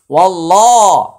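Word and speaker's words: وَاللَّهُ: এখানে আল্লাহ শব্দের পূর্বে একটি জবর আসছে, তাই এটা উচ্চারণে মোটা হবে, আর মাঝখানে আলিফ এবং লাম এটা উচ্চারণে আসবে না। ওয়াল্লাহ, ওয়াল্লাহ হা পেশ হু, ওয়াল্লাহু।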